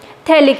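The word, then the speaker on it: phthalic: Next है आपका थैलिक acid. कई लोग PH बोलते हैं कि साइलेंट है इसका, तो उसको क्या बोलेंगे हम लोग, थैलिक एसिड।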